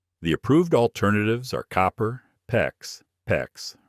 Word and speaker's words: PEX: The approved alternatives are copper, PEX, rhymes with flex, or CPVC, depending on your local jurisdiction.